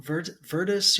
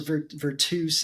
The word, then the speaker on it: Virtus: So Virtus or Virtus is the Latin pronunciation.